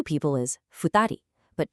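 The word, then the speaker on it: 二人: 2 people is futari, but 2 animals is nihiki. Notice how drastically the numbers completely change the pronunciation depending entirely on what it is you're counting.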